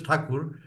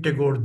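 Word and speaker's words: Thakur: we come to English since the English could Englishman could not pronounce rindra takur as takur so it became tagor there and just to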